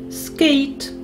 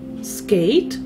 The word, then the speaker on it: skate: Ми пам'ятаємо, що у таких буквосполученнях літера «і» остання, вона німа, її не чути. А літера «A» читається так, як має такий звук, як вона називається в алфавіті. В алфавіті ж ми починаємо з літери «A», тому вона так тут і читається, як «A».